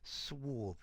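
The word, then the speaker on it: swarthy: there students swy swy notice the pronunciation swy with that a sound okay this talks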